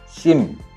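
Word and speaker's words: ສິມ: 주요 건물은 심 혹은 불전이라고도 불리며 특히 다층의 지붕이 눈에 띕니다. 심이 우리가 심카드 할 때 심하고 발음이 거의 같습니다.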